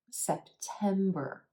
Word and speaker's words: September: August September September 3 syllables here with emphasis on the second syllable and the a is in red bow sound notice how I hold that sound a little longer put a little more energy into that second syllable September September that last syllable has our error sound which is always pronounced in American English that are except for